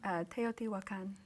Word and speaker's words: Teotihuacan: Teotihuacan. Teotihuacan, as well as Mazatlan, I can get that one, and Mexico City.